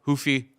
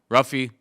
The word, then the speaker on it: Ruffy: nerd uh Huffy Huff hoofy ruffy he's Brazilian so we don't pronounce the r but uh Huffy is